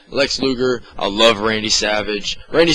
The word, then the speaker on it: Lex Luger: I kind of like Lex Luthor Luthor oh my god Luger I always say his name wrong Lex Luger I love Randy Savage